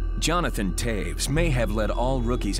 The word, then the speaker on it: Toews: continues to insist that his last name is spelled t o e WS that might be how they do things in Winnipeg but in Chicago those letters don't spell Taves they spell toes when you pick your